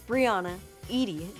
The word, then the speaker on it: Breanna Yde: It is pronounced Breanna Yde.